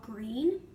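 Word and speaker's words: Gruene: small Texas town called Green it's pronounced like the color green but it's spelled like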